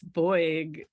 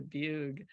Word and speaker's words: Beug: talk inside me well my last name is is anglicized German because it should oing but nobody American can pronounce boyg so it's turned into bug yeah you prefer a